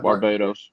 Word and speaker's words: Barbados: Barbados.